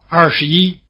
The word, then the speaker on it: 二十一: Notice that when 十 is in the middle syllable, in a three-syllable number, such as 二十一, it is weakened to the point where it loses its tone.